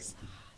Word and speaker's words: facade: never say this word a f is a fade or facade facade facade facade I never say that word right facade right so that one they're talking 57,000 you're saying it the way it's spelled I know so that's